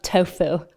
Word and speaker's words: tofu: So just imagine your hands are holding blocks of tofu or tofu. That's how it's pronounced in Mandarin.